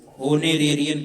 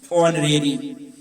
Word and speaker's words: honorary: बगैर वेतन का होनोरेरी, HONORARY, होनोरेरी, ऑनरेरी। एच कह देते हैं ताकि स्पेलिंग सही हो, कहीं कहीं ओ का भी उच्चारण करना चाहिए, ये हम जानते हैं।